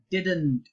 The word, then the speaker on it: didn't: hear people say in the second D is not silent you have to say it didn't us use it in